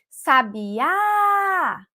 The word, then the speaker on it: sabiá: Eu vou chamar a palavra sabiá. Eu estou dando a tônica na última sílaba, no último pedacinho.